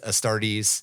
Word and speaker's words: Astartes: It's Astartes. Yeah. And it's spelled Astartes. The problem is there is so much shit in science fiction that's Astrady or Astrady similar that it's in my head baked already.